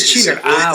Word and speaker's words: Schiller: Ese es Schiller.